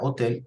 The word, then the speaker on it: hotel: sucede acá la parola hotel también es extranjera en italiano la letra h no tiene pronunciación es muda al igual que en